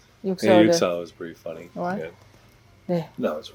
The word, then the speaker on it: 6/45: I don’t remember whether it was this year or last year, but it’s the movie 6/45 (pronounced 'Yuk-sa-oh'). 6/45 was pretty funny.